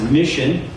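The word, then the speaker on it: MCHN: Michigan Christian homeschool Network our acronym is MN we pronounce that as Mission some of you who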